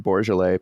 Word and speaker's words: Bourgelais: For our first recorded guest on the podcast is Pete Bourgelais.